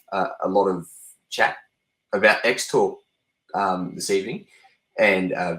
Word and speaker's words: X-Talk: crosstalk right spell it still spell it X talk but call it crosstalk because I think that's